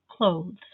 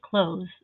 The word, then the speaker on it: clothes: really the word is clothes with the th most of us just say close the same way we say close as in to shut it's not an easy